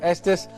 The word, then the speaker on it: Estes: that's right Sheikh Yusuf Estes assalamu alaikum so yesterday Kuntz an aromatic sheikh how did you your last name rhymes with the state you come from Estes Texas Texas man is saying